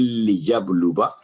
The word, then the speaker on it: لِيَبْلُوَ: اس میں یہ الفاظ موجود ہیں وَلَٰكِن لِيَبْلُوَ، الف سائلنٹ ہے تو واو کی آواز لمبی نہیں ہوگی، 1 سیکنڈ وا درمیان میں پڑھیں گے.